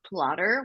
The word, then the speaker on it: Plottr: I also will say that somewhere in between doing edits, I discovered Plotter, which is a software. It's also available in a browser. It's spelled Plottr.